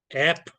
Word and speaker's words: apnea: And please, please, please, the way that this is pronounced is apnea.